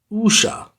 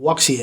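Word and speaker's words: wuxia: and so this waxia thing which is actually pronounced usha usha so i won't pronounce it luxia anymore i'm going to say usha the usher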